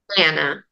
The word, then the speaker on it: Anna: And I believe you brought home next, do you say Anna or Anna? Anna. Anna. So Anna. I have an Anna, but that's because she's Ukrainian and that's how it's pronounced there.